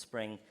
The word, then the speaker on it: Xspring: It's spelled with an X, but it's called Spring, which you're trying to get developers onto it.